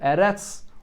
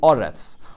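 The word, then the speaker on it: ארץ: These words, Eretz, Shamayim, and Mitzrayim, so it could be read Eretz, or it could be read Oretz, or Shamayim, or Shamoyim, or Mitzrayim, or Mitzrayim.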